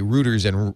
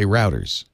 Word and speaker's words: router: See, they say routers and we say routers.